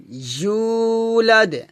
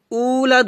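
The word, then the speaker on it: يولد: মাদ কুলহু আল্লাহু আহাদ আল্লাহুসস সামাদ লাম ইয়ালিদ লাম ইয়ালিদ ওয়ালাম ইউলাদ ওয়ালাম উলাদ হবে না কি হবে ওয়ালাম ইউ ইউলাদ এখানে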